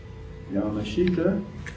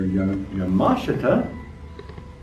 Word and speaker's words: Yamashita: Yamashita, or Yamashita, as I understand I'm supposed to pronounce that, has been a very impressive martial artist for as long as I have known him.